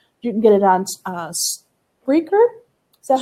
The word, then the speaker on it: Spreaker: You can get it on Spreaker. Is that how you pronounce it?